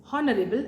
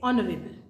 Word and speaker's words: honorable: the beginning letter is the silent letter H for example I cannot say honorable I say honorable so I will use